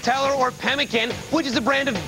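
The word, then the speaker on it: Pemmican: correct Le Nikita upen pen and tell or pemin which is a brand of beef jerky by ConAgra carollyn upen incorrect Ronnie penan I'm sorry I can't take that pronunciation it's pemin which US state is home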